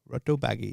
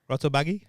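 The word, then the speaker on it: rotabagge: g g e baggy rotto baggy that's r bagy ragy no it's Swedish not Italian and it's been converted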